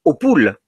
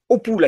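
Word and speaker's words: Hautpoul: lu château est une opoule H a T P o u l mais opoule à côté de périlos si il s'écrit plus simplement en phonétique c'est la même c'est auoule alors y a-t-il là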